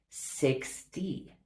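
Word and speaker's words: sixty: Do you hear that? 16 is very different from 60. 60 has a D sound. So 16, 60.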